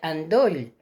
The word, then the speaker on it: endoll: Es igual la pronunciación, en eso no os tenéis que preocupar demasiado, porque es endoll, pero se pronuncia andoll, porque esta es aquella que fluctúa entre la A y la E.